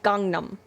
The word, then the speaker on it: Gangnam: He clearly says Gangnam, right? Gangnam. Like, I know it's spelled Gangnam, but he says Gangnam.